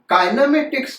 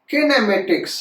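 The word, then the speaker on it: kinematics: किनेमेटिक्स को generally काइनेमेटिक्स कहते हैं। वैसे आप अगर देखेंगे तो इसका करेक्ट प्रोनाउंसिएशन किनेमेटिक्स है। जनरली लोग क्या कहते हैं, काइनेमेटिक्स।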